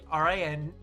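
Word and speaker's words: Rintarō: In the name Rintaro, it is spelled Rantaro, but it has the accent over the after the O, so it's supposed to be Rintarou.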